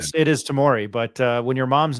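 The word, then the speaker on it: Tamari: Tamori. So you the the last A is pronounced as an O then. Tamori.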